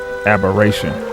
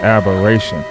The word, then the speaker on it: aberration: to do a little side bar right quick aberration yeah Aber this is a aberration don't even sound like a word man what